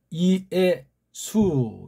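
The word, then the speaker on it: Ἰησοῦ: 그 다음 이에수, 이걸 예라고 읽으면 안 되잖아요.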